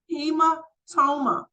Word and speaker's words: hematoma: Next, the next H word is pronounced hematoma.